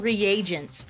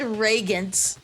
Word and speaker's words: reagents: Oh, they're called reagents. I've been pronouncing it completely wrong. I said Reagan reagents.